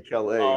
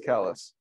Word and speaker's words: Calais: No, it's spelled, no, it's actually a French name, but we pronounce it our own way. What is it? Kalos? Yeah. To be Calais, but in Maine is Kalos.